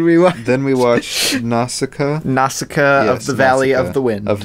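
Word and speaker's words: Nausicaä: was just like how the heck do you pronounce this but it's nausicaa yes from after watching the movie um another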